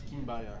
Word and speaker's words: Kimbaya: It's Kimbaya, yeah. My aunt pronounces it Kimbaya. She was like, that's how Colombians pronounce it. I'm like, no one in Colombia pronounces that way.